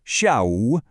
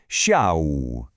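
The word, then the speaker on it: 下午: All right, our next key term is sha, pronounced shia. Let's break down those tones. We have a sharp falling fourth tone first, sha, and that's followed by a rising third tone. So, it's shia.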